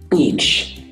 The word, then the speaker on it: beach: Bitch, algo así. Beach. Like, bitch. No. Beach. Sounds like B at the beginning.